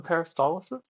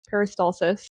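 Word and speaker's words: peristalsis: The paristtolesis. Why is that funny? Yeah. I just feel like you're adding an I in there that doesn't exist. Paristalsis.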